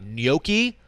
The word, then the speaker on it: gnocchi: We got gnocchi, which feel weird saying it. Feel like I'm mispronouncing it.